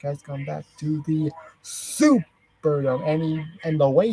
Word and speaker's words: Superdome: which in which uh Hulk Hogan was was famously mispronouncing the name of the venue they were in because they were in the Superdome not the silver Dome and they were and